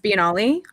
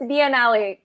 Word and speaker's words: biennale: is it i've heard no no when i'm in europe it's biennale yeah european pronunciation yes yeah because the european